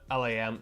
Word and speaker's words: Lam: Uh, Lam is pronounced like the animal lamb.